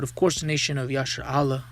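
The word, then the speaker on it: ישראל: course the nation of Yasher Allah, which is how you say Israel in the Hebrew.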